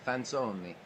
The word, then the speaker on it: Fanzoni: So Carmen Fanzoni, and I know I'm pronouncing that correct, because it's Italian, Fanzoni, into play first base for the Chicago Cubs.